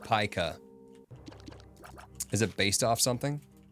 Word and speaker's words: Pica: Funny enough, it's actually pronounced Pica.